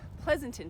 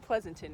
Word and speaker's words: Pleasanton: that right cuz Pleasanton seems like like there's not too many ways you could pronounce it right so I think Pleasanton is okay Pleasanton so we're headed later